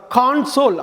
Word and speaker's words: console: அதாவது CONSOLE ரெண்டு விதமாக உச்சரிக்கலாம். கான்சோல் அப்படின்னு ஒரு உச்சரிப்பு, கன்சோல் அப்படின்னு ஒரு உச்சரிப்பு.